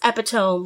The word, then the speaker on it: Epitome: you're okay with that it's spelled epitome but like Apatow it's good if you can't chant it it's not a good wrestling name wrestling name so yes it is it is epitome wrestling love it um